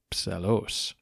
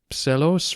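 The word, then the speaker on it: Psellos: and for those wondering that's spelled PS e l o s Pelos Michael wrote a unique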